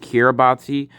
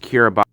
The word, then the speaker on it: Kiribati: Now, when I show you like the name of the country, it's gonna look like it's pronounced Kiribati, but like it's actually pronounced Kiribati.